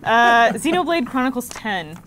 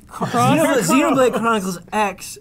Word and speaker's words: Xenoblade Chronicles X: Xenoblade Chronicles 10. Whoa. 10. You mispronounced that. X. Xenoblade? Is that what We it is? say cross. Xenoblade Chronicles X, please.